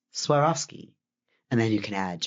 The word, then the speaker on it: Swarovski: I swear off skiing. Swarovski. And you take the I off the front and the ing off the back, and it's Swarovski.